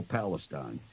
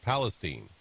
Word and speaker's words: Palestine: and you know that there's a town in Texas called Palestine right no it's Palestine anyone who lives there will tell you it's Palestine so spell it sound